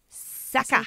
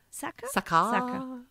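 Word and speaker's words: Sakah: she was pretending to be an 18 year old au pair called sucker i don't know how that's if sucker s-a-k-a-h sucker okay i don't know how do you say it sucker i think it's i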